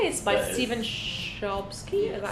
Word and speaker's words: Chbosky: By That is- Stephen Chbosky.